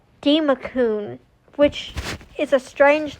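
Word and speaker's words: Democoon: I can't pronounce them. Yeah. See, that's so much easier. It's Demacun, which is a strange name.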